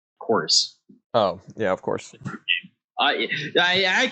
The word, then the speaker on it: Chorus: It's not Chorvis, it's Chorus.